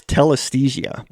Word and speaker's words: telesthesia: occult literature use the word telesthesia it's like anesthesia anesthes anesthesia that's one of